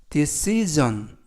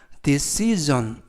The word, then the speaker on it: decision: 이번 표현은 decision 이라고 발음하시면 되겠고요. 이때 유의하실 것은 S가 발음이 스 발음이 아니라 Z 발음이 나서 decision 이라고 발음하시면 되겠습니다. 품사는 명사, 뜻은 결정 또는 결심이라는 뜻을 가지고 있습니다.